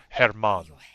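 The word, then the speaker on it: Germán: He spelled like German, but you don't say it German. You say it Herman.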